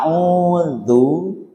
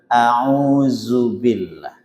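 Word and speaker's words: أعوذ: Jadi biasanya gampang kalau orang j menyesuaikan laj Arab ni gampang mestinya diucapkan dengan sifat jahr dza bukan zaza gitu. Contoh membaca istiadah auudzu. Nah kalau orang Betawi ini membaca auzubillah. Auzubillah dan itu sulit untuk dirubah.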